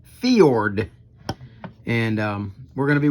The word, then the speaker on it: Fjord: And Dan Selvig came back in the comment section and informed me that this is a Scandinavian name, and it is pronounced FJORD.